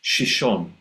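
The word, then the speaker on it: Xixón: region of Spain where the city name is pronounced shishon.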